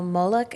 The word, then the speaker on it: Moloch: kind of excited to see how this idol Moloch, is that how you say it?